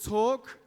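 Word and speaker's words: Talque: a little bit earlier that app is called talk that's spelled differently than what you'd normally say so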